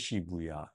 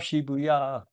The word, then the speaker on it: Shibuya: Or she how do I pronounce it? Sh. Let me read it again. Okay, it is Shibuya. Um, good job, Shibuya.